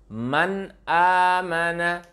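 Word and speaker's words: من آمن: Baca man amana. Man amana. Bisa diikuti bersama-sama di yang menyaksikan ini. Man amana. Nah, rumus membacanya apa tadi?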